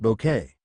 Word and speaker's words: Bucket: me of an evil Mrs bucket pronounced bouquet as you may suspect